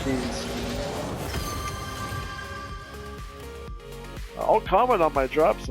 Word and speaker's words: Ys: Like the E series spell, it's called spelled YS, but it's pronounced E.